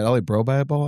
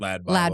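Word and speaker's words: LADbible: Is it LA Bro Bible? I always say it wrong. Or Lad Bible. Lad Bible.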